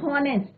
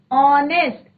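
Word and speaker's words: honest: ऐसी ऑनेस्ट, तो एच is silent, यहाँ पे एच क्या है बच्चों, साइलेंट है, हमें प्रोनाउंसिएशन किसका आ रहा है, वॉवल का, ऑनेस्ट, ओ का प्रोनाउंसिएशन आ रहा है। कई बच्चे जो हैं जब रीड करते हैं तो क्या बोलते हैं, हॉनेस्ट, but that is your wrong, it इज ऑनेस्ट, तो प्रोनाउंसिएशन किसका आ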